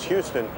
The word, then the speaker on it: Houston: Khi chúng ta xuống dưới Đường Houston, mà vì một lý do nào đó ở New York được phát âm là Houston, mặc dù thành phố đó là Houston, Tên Soho bắt nguồn từ phía nam Houston.